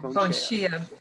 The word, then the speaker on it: Bonshia: And in your book, please pronounce is it Bonshia? Bonshia.